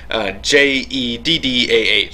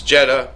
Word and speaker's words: Jeddah: J-E-D-D-A-H, so Jeddah, that's how I'm going to pronounce it.